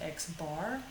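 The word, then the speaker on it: x̄: over it that's the mean or average it's pronounced x bar we're going to use just the letter m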